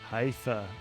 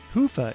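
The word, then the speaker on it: Hyvä: talk Commerce is sponsored by hia or as the Europeans say Hua or the right way to say it hufa is rapidly becoming the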